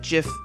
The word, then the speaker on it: GIF: how to say it is it a hard g as in gift or a soft g as in jin few words in the